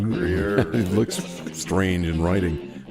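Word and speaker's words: Gruyère: Not Gruyere. It's Gruyere.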